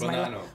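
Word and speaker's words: Bonanno: the be the banono I'm hope pronouncing this right because banano banano banano just like bananas banano banano okay because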